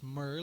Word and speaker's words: Mir: No, there was one time he would say his name was Murr. Like he said it was, I'm Frank, Frank Murr. Mir.